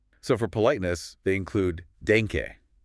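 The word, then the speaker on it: danke: So for politeness they include denke just means thank you pronounced dank.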